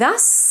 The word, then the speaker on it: us: Us is actually the only grammatical word that ends in a voiceless S, because the rest, things like has, is, does, and so on, they end in a voiced Z. So when you have us, it has to stay voiceless. Us.